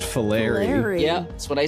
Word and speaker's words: Fillery: It's pronounced Fillery.